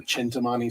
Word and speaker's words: Chintamani: the first gift was called the sentimony stone or I've heard it pronounced the chintamani stone and it's basically